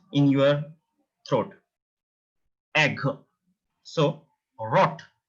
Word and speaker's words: rot: Then you can pronounce it like a German. But now you can use at a R, but soft R. Rot. It's not a rot. It's rot.